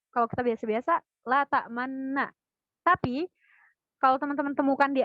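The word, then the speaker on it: لَا تَأْمَنَّا: ada tulisan kecil ismam, berarti kita membacanya adalah dengan cara memoncongkan bacaan pada lafaz man. Berarti cara bacanya la ta'manna. La ta'manna. Jadi suara tidak berubah, melainkan cuma bibir aja yang berubah.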